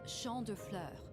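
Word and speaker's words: Champs des Fleurs: just like iy imagine Champs de floors how do you say that it's Shand Flur it's Shand Flur it means fields of flowers this is the place I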